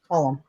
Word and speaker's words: Colm: Well, it's spelled Colm, not like Colin. Colum.